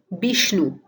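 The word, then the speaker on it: বিষ্ণু: Vishnu becomes Bishnu. See here that the v sound changes to the b sound and the n sound changes to the n sound. So Vishnu becomes Bishnu.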